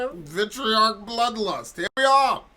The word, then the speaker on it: Vitriarch: And this is Vitriarch. Vitriarch. Vitriarch. Vitriarch. I'm pretty sure is the way that the name the band is pronounced.